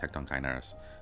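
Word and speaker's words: Hecatoncheires: I know it's pronounced Hecton Kerys.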